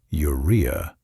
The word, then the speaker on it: urea: When you eat protein, your body breaks it down and creates waste products like urea, pronounced urea.